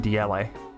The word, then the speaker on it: Diele: Next is Diele. I don't know how you pronounce this. Diele? I pronounce it Diele. I like to put some emphasis on that last E.